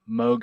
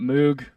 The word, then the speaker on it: Moog: bob mode quote saying Moog like Vogue that's how you pronounce it and then I was like okay I can confidently say Moog now I think I